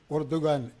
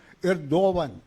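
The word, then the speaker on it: Erdoğan: ഇരിക്കുന്നത് ഈ റസീബ് തയ്യിബ് ഉർദുഗാൻ ഉർദുഗാൻ എന്നാണ് മലയാളത്തിൽ പലരും എഴുതുന്നത് അദ്ദേഹത്തിന്റെ പേര് ഇംഗ്ലീഷിൽ എർഡോഗൻ എന്ന് എഴുതും യഥാർത്ഥ ഉച്ചാരണം എർദോവൻ എന്നാണ് ഈ എർദോവൻ 21 കൊല്ലമായിട്ട്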